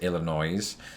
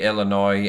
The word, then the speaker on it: Illinois: pronouncing it that way I have heard people even in this state tho pronounce it Illinois's which is interesting because it creates an extra noise instead of an extra